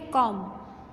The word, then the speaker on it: comb: Second है कॉम, बी आता है पीछे, COMB, कॉम, लेकिन बोलते नहीं हैं, आवाज़ नहीं आती।